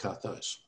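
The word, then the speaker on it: καθώς: So you got there kappa, alpha, theta, omega, sigma on the end. So it's pronounced kathos.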